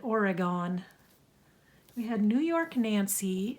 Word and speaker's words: Oregon: and they both said Oregon I'm like it's not or rag gone they're not three syllables just two or gun um paint I don't